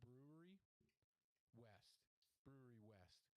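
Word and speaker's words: Brouwerij West: is that it's from, I think you pronounce this word Brewery West, but they're spelling it in like the traditional Belgian form of the word brewery, which has a J in it, you know, at the end.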